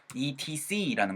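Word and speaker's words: et cetera: ETC라는 걸 많이 아시죠. 근데 ETC라고 적으실 땐 ETC라고 적어야 되지만 이거는 뭐라고 읽어야 되냐면은요 etc. 해서 세에다 강세가 꽝 하고 찍혀요.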